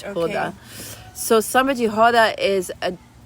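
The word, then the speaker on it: roda: The samba that is done in baya samba jihod which is spelled r o d a but you pronounce it with an h. Ha. So samba jihada is a it's closer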